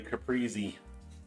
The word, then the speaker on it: caprese: Steak and caprese. It's an Italiano. I think the English, the U.S. pronunciation would be caprese.